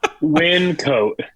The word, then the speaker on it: Wyncote: a place in Pennsylvania that I probably can't pronounce the name of. I say Wyncote.